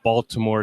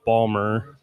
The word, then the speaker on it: Baltimore: to correct Dana and since I'm a native of the area it's not Baltimore its Ballmer so that's that that's